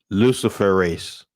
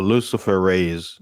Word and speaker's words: luciferase: who are hearing it the word is spelled like if you've heard of the word Lucifer which is Latin right Lucifer which ends with ER and then you add a-s-e luciferase or Lucifer raise depending on whoever is going